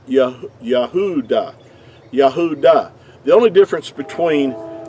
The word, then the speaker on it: Judah: Now in our English we say Judah which is totally inaccurate because there's no J sound in ancient Hebrew but the word uh Judah in our English word would be uh would be accurately would have been pronounced Yahudah.